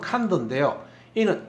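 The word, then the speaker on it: condor: 칸더 콘도르 콘도라는 거죠이 콘드로는 발음은 칸도인데요이는 잉카의 언어로서 컨트롤에서 나왔어요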